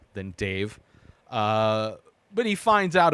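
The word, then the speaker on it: Dev: is is Dave and it's d-e-v pronounced by everybody in this movie Dave doesn't sound like this old ancient mythical god guy um and then the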